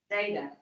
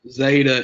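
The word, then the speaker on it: ζῆτα: week, I said technically the way that we pronounce zeta is different than the way we're usually going to. Does anybody remember what I said the proper pronunciation is? DZ. DZ.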